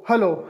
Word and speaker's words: Hallo: Haiku spell इस तरह करेंगे, HALLO, हेलो।